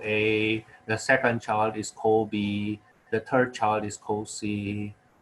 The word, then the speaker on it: Kobe: be kobe bryant not kobe bryant supposed to be kobe if you ask uh his parents his name kobe actually coming from the city uh in japan now don't ask me